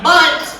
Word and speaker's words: bundt: a silly nerdy one in the voice it is spelled b-u-n-d-t bunt cake get ready and fingers bleeding thank you